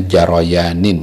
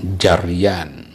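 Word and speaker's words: جريان: Bila jarayanin, bacanya jarayanin ya, bukan jaryan.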